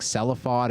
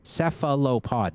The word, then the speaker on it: cephalopod: Cephalopod, John. Cephalopod. That's 4 syllables.